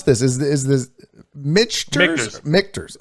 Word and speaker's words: Michter's: Michters. Okay. Like a K.